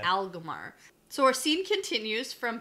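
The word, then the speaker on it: Agelmar: Like how to pronounce Aglmar? That's different. Or Gleb? That's different. Aglmar? You say Aglmar. Aglmar. It's Aglmar.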